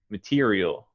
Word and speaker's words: material: all right good um the e uh it sounds just like the letter e t material material that's it material okay and it's the second syllable that's emphasized right material material okay that's